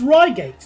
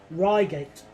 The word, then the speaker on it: Reigate: Well, it's Ryegate. That's the pronunciation that we all go with now, unless I'm mistaken. Ryegate. That's what the announcers say.